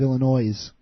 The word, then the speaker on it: Illinois: It's a dead giveaway because she keeps referring to it as the state of Illinois. Yeah. Yeah. Hey, that should be a requirement right there.